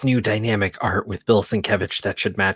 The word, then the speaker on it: Sienkiewicz: All his materials has like a sin and then like a Kev and then an itch, like how to pronounce his name in it, because I guess he got annoyed.